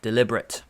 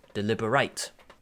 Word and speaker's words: deliberate: today that is the answer deliberate or the other pronunciation is deliberate this is one of the best ones in